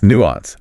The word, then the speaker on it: nuance: Nuance. A noun defined as a subtle difference in meaning, expression, or sound.